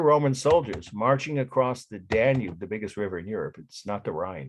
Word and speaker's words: Danube: here these are roman soldiers marching across the danube the biggest river in europe it's not the